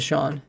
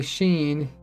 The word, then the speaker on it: Sheen: Oh, you do pronounce it Sean, even though you wrote Sheen the Bean. That's your name. That's kind of cool because like it makes people say Sheen even though you pronounce it Sean.